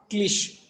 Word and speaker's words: cliché: You have to pronounce it cliché, and its plural is cliches.